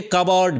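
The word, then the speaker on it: cupboard: Unlock এ কাভারড below হিস ডেসক। অর্থাৎ তার ডেসকের নিচে একটা কাভার্ডের উচ্চারণটা কিন্তু কাভার্ড হবে।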